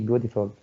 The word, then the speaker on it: beautiful: And in American English here, you can pronounce the word like D, beautiful, because it is followed by vowel.